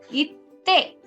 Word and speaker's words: 行って: So it won't be ite. Okay? Please remember that. It will be 行って、 itte.